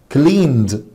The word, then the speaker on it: cleaned: هنمسك كلمة كلمة cleaned هتقول له نطق ده بس يا مستر.